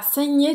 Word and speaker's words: saigné: Esse GN, GN, desculpa, é como NH em português. Um pouco mais longo, Nasalado, né? nasalado. Nhê.